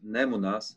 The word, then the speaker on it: Nemunas: Nemunas is Lithuanian, and I noticed in the English maps that it's Nemunas.